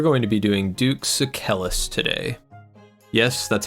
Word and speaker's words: Sucellus: And we're going to be doing Duke Sucellus today. Yes, that's how it's pronounced according to the wiki.